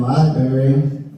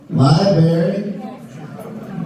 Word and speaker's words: library: So when people mispronounce the word library, when they forget that first R, I think they're just convincing specific men of the world to be dishonest. Like the berries of the world are here in Library. Library.